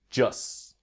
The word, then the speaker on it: just: about the pronunciation about the T in just when we speak quickly it will become silent the just will be just try with me just